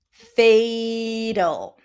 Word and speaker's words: fatal: Fatal. A is in day. Fatal.